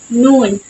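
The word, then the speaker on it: نون: press against the MERS it is the nasal sound so air passes through the nose similar to the English n in net so noon noon so when you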